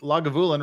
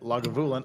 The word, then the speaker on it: Lagavulin: bad I'm Scottish English lagavulin rhymes with I'll have you win emphasis on the gav or gov syllable and you as in the word you as I said lagavulin I'm an alcoholic I